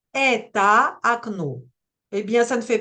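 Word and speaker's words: окно: Alors, premier point, cette règle n'est pas fausse, car ça marche bien avec des mots comme akno ou balshoe. Mais ce serait quand même mieux de préciser que cela ne marche que si le O est juste avant l'accent tonique.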